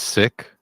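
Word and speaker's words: Sikh: go and say like have you heard of the seek religion I have yeah uh it's pronounced it's pronounced sick actually sorry I was you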